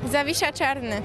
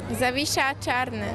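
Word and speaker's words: Zawisza Czarny: How do you say the name of the ship? Zavisha Charne. ¿Cómo se llama? Zavisha Charne. Ok. Zavisha Charne.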